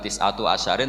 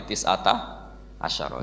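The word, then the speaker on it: تسعة عشر: Tetap bacanya bukan tis'atu asyarin tapi tis'ata asyara.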